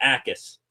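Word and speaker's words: Jacas: It is Jacquess. Gabe Jacquess from Illinois. The j is silent.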